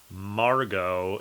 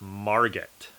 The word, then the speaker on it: Margot: you pronounce that name Margo it is not Margot okay it's just like ballet or filet or Chevrolet you don't say the T at the end of those so this one was